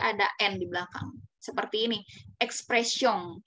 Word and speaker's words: expressions: Endi belakang seperti ini Express song ya kalau kita baca sebelum belajar bahasa Perancis misalkan ia dibaca aja nih m sama esnya misalkan expressions gitu ya tapi kalau kita udah belajar bahasa Perancis tentu akan beda ocara bacanya lele ya karena dia